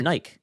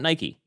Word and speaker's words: Nike: Okay, in the UK, they pronounce it Nike, not Nike.